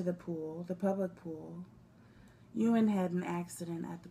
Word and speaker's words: Ewan: Ewan.